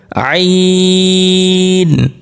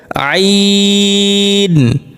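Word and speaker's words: ع: হবে না আমাদের কিভাবে আইন আইন আইন আইন হা এই দুইটি হরফ আমাদের নরমাল উচ্চারণ করলে চলবে না এই দুইটি হরফ আমাদের একটু চেপে একটু শক্ত করে উচ্চারণ করতে হবে আবার বলি আইন হা তিন নাম্বার মাখরাজ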